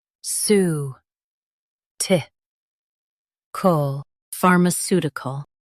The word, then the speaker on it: pharmaceutical: far m su ti cal pharmaceutical Stress the su syllable and keep ti light. far m su ti cal pharmaceutical Stress the su syllable and keep ti light.